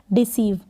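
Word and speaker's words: deceive: डी को ड, ई है तो डी, एस को स, ई और वी को व, डिसीव। क्या है? डिसीव। लास्ट में ई है, आप इसको प्रोनाउंस नहीं करेंगे।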